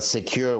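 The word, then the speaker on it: Sekur: us why great well secure which is spelled s-e-k-u-r is our email and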